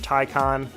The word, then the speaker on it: Taycan: It's since changed its name to the Porsche Taycan, and yes, that is how you say it.